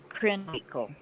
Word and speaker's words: Krenwinkel: The Lynette Squeaky Fromm, I guess is how you pronounce her last name. It doesn't say how old she is either. Scarlett. Uh-huh. It's Krenwinkel.